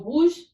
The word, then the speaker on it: rouge: So rouge is spelled R-O-U-G-E, rouge.